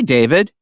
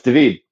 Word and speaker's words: David: And they immediately go, oh, hi, David. Mm-hmm. Which is not the correct pronunciation. It is not. It's David.